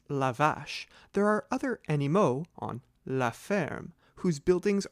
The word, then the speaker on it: animaux: Remember that one animal is an animal, but more than one are animaux, ending in A-U-X. Do not pronounce the X.